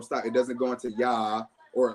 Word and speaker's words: Ya'oh: So the pronunciation we are left with is Ya-O.